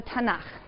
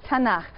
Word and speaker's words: Tanakh: Tanakh, which is really the letters T, N, and Ch. And they put little A's in there to make it easy to pronounce, because it's hard to pronounce. So Tanakh, okay?